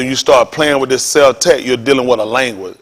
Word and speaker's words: Celtic: Let's see if we can see how the word pronounced, because it's actually pronounced Celtic. Celtic will refer over to the Germans. The word is not Celtics. The crackers played y'all. The word is Celtic.